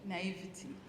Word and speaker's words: naivety: And I realized it was, what's the word? Naivete? How do you pronounce it? Naivety? Naivety. It was my naivety and just assuming that everybody has my interests at heart.